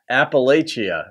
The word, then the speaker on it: Appalachia: different pronunciations I mean up here in Jersey most folks say like appal Appalachia or the Appalachian Mountains but I say it Appalachia just because I've been